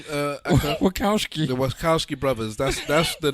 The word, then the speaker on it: Wachowski: How do you pronounce their name? Wachowski.